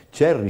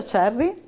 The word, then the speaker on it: Cerri: cos'è il progetto c'è Cherry Cherry Come si dovrebbe pronunciare perché poi oggi tra questa mattina e questo pomeriggio ho un problema con gli acronimi Eh beh si pronuncia Cerri ed è un acronimo